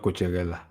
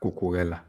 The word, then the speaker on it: Cucurella: His name is not Cucurella. His name is Mark Cucurella.